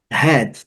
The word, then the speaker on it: head: Head, também muito simples, o H com som de R e o E com som do nosso E do português mesmo, letra A não é pronunciada.